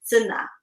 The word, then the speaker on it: Sanaa: And actually, Sanaa is the capital of Yemen, and they actually pronounce it Sanaa. Just like Hmm. I pronounced it.